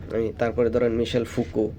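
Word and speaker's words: Foucault: কি তারপরে ধরেন মিশেল ফুকো তো মিশেল ফুকুও এরকম একজন ফ্রেঞ্চ আমরা ফোকাল্ট লেখতে সময় লেখার সময় ফোকাল্ট বলা হয় কিন্তু উচ্চারণটা হয় ফুকু আর কি যেহেতু ফ্রেঞ্চ নেম তো সেও এভাবে নানান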